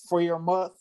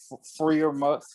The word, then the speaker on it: Freiermuth: from Penn State, Pat Freiermuth. Forgive me if I'm saying your name wrong, dog. But yeah, Pat Freiermuth. Fryer. Freiermuth. Get it right.